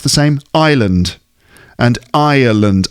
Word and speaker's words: Ireland: same island and ireland i think there's there's more syllables in the name of the country so island you know you know like a desert island um and i uh lund here ireland slightly different actually but some people might pronounce them the same anyway there is a